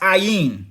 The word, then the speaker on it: Ain: dwell in this myth john and eon and ein three forms of the word and all pronounced three forms of the words the and all pronounced ayin presents the redeemed and